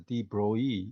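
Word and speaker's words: de Broglie: uh uh the broy a little careful pronounced is deep Bro e not the probability wave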